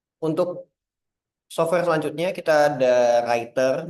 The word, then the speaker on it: Rytr: Oke, untuk software selanjutnya kita ada Writer. Memang namanya agak rumit ya sebenarnya bacanya Writer, tapi tulisannya RYTR.